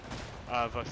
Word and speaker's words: Vosges: But, It's Vosges. It's the Vosges. It's Vosges. Okay, right. the S is silent.